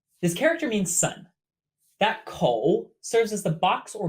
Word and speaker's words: 口: 口. Pronounced exactly like coat in English, but without the t. 口.